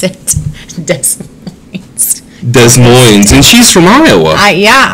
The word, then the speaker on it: Des Moines: it pronounces it that's Des Moines and she's from Iowa yeah I don't Des Moines I just no you don't you don't you don't need the s's yeah Des Moines that was a shirt